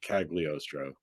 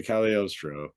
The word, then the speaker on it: Cagliostro: seen the name before you might have pronounced it cagliostro because there's a g in there but it's an Italian name so alesandro de calostro you know General consensus